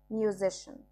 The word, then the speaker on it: musician: أخبار news news موسيقار musician CIA تنطق شه musician مراهق teenager teenager